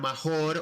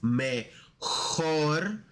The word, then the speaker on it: mejor: Mi mejor amigo, remember in Spanish it's not mejor or mayor, it's mejor.